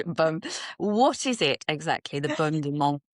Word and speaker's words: baume: So what is the famous, I'm going to say balm, because every time I say baume, my children criticize my pronunciation, but you can say baume in French, baume.